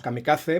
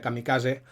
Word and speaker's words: kamikaze: nuestro idioma, aunque bueno, en castellano normalmente lo pronunciamos kamikaze, marcando la Z esta castellana, y en japonés sería kamikaze, como en catalán, por ejemplo.